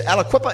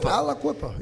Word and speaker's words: Aliquippa: Now you pronounce the name is Aliquippa. Is it? How do you pronounce that? Is your hometown? You said Aliquippa. Aliquippa.